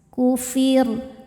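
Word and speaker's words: كفر: Ketika berhenti di huruf ro, rnya disukunkan dan dibaca secara tarqik. Kenapa? Karena sebelum ro yang disukunkan ada harakat kasrah, maka rnya dibaca tipis. Kufir.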